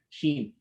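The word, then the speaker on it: ش: uh moving forward that when you're pronouncing a sheen the tongue should obviously not touch the top part of your mouth because if it touches it you'll be pronouncing a gene a gm and sheem or a sheen are pronounced on the exact same area the only difference between the two is that in the sheen you don't touch the top part of your mouth but in a gene it touches it so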